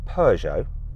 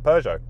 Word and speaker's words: Peugeot: And tell me how you say Peugeot. Peugeot? Yeah, like the girl's name, Peugeot.